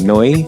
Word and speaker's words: Neu!: Um I I'm say I feel like I'm saying that wrong. Noi. No, you are. Is that right? That's the correct pronunciation as far as I know.